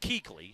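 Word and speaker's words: Kuechly: Panthers yeah really looks like cley but it's pronounced Keeley it bothers you I can tell does it always has you're editing your disdain for the name but Luke Keeley is talking a k Adams he's up in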